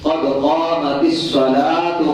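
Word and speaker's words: قد قامت الصلاة: جلدی پڑھتے ہیں تو لفظ صلاۃ کے اوپر پیش ہے، قد قامت الصلاۃ قد قامت الصلاۃ، یہ آذان ہے اور یہی اس کا درست تلفظ ہے۔ اب میں پوری آذان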